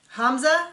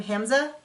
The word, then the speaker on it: Hamza: And the last couple that we really saw in this episode is Hamza, I believe is how you pronounce his name, Hamza, and Memphis.